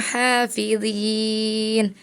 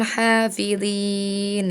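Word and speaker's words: حَافِظِينَ: Ya, mad tabi'i tadi harusnya dibaca panjang, sama Farel tidak dibaca panjang. Contohnya ada di surat Al-Mutaffifin ayat 33. Harusnya dibacanya wa ma ursilu alaihim hafidhin. Tadi Ananda Farel bacanya wa ma ursilu alaihim hafidhin ya. Nanti mad tabi'inya diperhatikan lagi.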